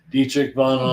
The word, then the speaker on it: Dietrich Bonhoeffer: I remember, so I think, how do you pronounce Dietrich Bonhoeffer? Dietrich Bonhoeffer.